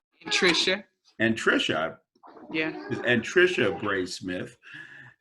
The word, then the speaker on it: Anntricia: So this is Anntricia Bray Smith, and I did pronounce it properly, correct that time, correct? Anntricia.